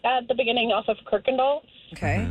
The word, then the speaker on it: Kirkendall: Like we lived at the beginning off of Kirkendall. Okay. And there's no R in that word. Right. I have no idea why it's pronounced like that.